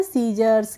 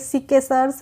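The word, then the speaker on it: scissors: ऐसे ही है friends सीजर्स एस सी I double S ओ आर एस तो हम इसको पढ़ते हैं सीजर्स क्या पढ़ेंगे सीजर्स सीके सर्स नहीं पढ़ते हैं ऐसे ही एस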